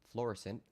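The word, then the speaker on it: Florissant: documents to be from fluorescent Missouri although that's a French word that I would pronounce florisol but I'm pretty sure it's fluorescent Missouri was charged with felony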